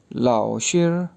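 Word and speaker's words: 老师: जैसे LAO लाओ, लाओ, SHI शेर, तो ये वर्ड बन गया लाओ शेर, लाओ शेर, लाओ शेर।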